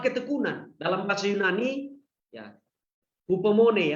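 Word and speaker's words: ὑπομονή: Dalam bahasa Yunani, ya, hupomone ya, pengucapannya hupomone, ini berarti keteguhan, ketahanan, ya, atau penuh harapan, kesabaran, sabar yang berkelanjutan.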